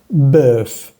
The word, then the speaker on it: bœuf: La palabra como carne, bœuf. En este caso vemos que se pronuncia bien la F al final. Bœuf.